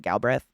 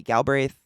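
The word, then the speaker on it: Galbraith: galbreth galbreth or galbreth I had a friend with that last name and they pronounced it galbreth but it might be gal braith Robert gal braith is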